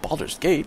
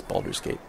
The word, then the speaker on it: Baldur's Gate: And so again, you might think, Baldur's Gate?